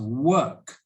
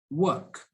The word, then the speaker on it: work: let's see okay so the first one is walk so that symbol there is the or sound or walk walk and the second symbol that looks like a number three is the er sound so work walk work walk work so as